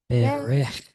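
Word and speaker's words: בֶּרֶךְ: Yes, Berech. Berech. First, don't accent the last syllable though. It's the first. Berech. Berech. Berech. Yes, good. Because remember, the two seagulls, the first gets accented, okay?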